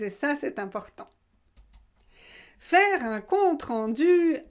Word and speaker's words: compte rendu: aussi pour vous une pas ou ont eu un compte rendu un compte-rendu pratiquer pratiquer pratiquer pratiquer hockey le